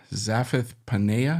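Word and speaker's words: Zaphenath-Paneah: new name verse 45 zith panea I think is how you say it and do you know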